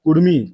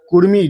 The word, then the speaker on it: कुड़मी: मांग कर रहे हैं उसका उच्चारण होता है कुर्मी। के यू डी एमआई कुर्मी जो आदिवासी एक कुर्मी वह क्षत्रिय समाज में आते हैं।